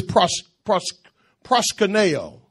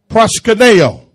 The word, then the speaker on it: proskuneo: Proskuneo. Amen. P-R-O-S-K-U-N-E-O. Proskuneo. That's how it's pronounced in the Greek.